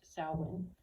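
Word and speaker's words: Samhain: they called saln spelled Sam hay but it's pronounced saln that this was really a day of honoring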